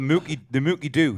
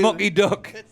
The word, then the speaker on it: Mucky Duck: Oh, the Mucky Do. She didn't get that. The Mucky Duck. Listen, I'm saying it right. You Americans are all saying it wrong. I say it right. It's the Mucky Duck.